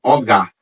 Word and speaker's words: ogá: a tradução de que o ogã é erroneamente pronunciado, né? De uma forma errônea, porque a forma como foi comprimida o nome, porque a palavra é ogá.